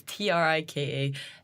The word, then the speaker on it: Trika: As we've discovered, there's a few ways to say this, but it's Trika and then yoga, which is spelled like yoga, although some people have spelt it wrong before.